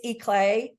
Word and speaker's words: Ikle: It's Ikle, but it. it looks like Eichel, and I answer to Eichel. I love that. I'm actually going to write that down just so that I say it properly for now I usually on. say Eclair. It's like eclair, just take out the R, I like like that.